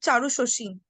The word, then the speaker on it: Charu Shashi: No, it's not common name, at least in this generation, but we pronounce it Charu Shoshi.